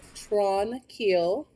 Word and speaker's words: Tranquille: i i'm surprised that i learned how to pronounce the name of this place and i'm going to tell you guys right now it is tron keel sanatorium and cam loops british